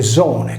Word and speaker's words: Dione: Posto in posizione intervocalica, Dione si legge zone, come il suffisso accrescitivo sardo, ed è per questo